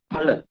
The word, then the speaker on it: Phala: Phala. Right? P-H-A, not Fa, Pa. Right? You need to understand in this way. You need to pronounce like that.